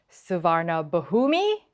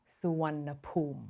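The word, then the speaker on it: Suvarnabhumi: along the lines of SAA bahumi well whatever it is that you're thinking it is not even close this airport is pronounced suan and the funny thing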